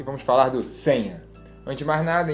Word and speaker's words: Seña: Vamos falar essa pronúncia Senha, né? Senha.